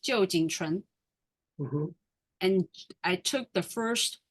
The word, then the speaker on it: Jo Chen: Is pronounced Jo Chen.